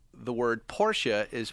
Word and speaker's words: Porsche: And we're talking about how the word Porsche is pronounced.